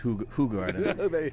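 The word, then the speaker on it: Hoegaarden: I think it it actually technically should be pronounced Hog Garden.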